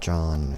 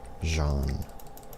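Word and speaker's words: Jaune: It's like, it's not John, it's Jean.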